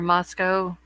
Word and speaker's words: Moscow: had one on Levick Street in Moscow or Moscow where they pronounce it then we've got the cordeline address